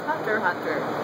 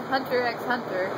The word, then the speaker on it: Hunter x Hunter: course it's Hunter Hunter the x is silent du why didn't I